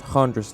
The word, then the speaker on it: Chandris: And just to clarify any confusion, it's spelt Chandris Lines, but it's pronounced Handris Line, as it's Greek.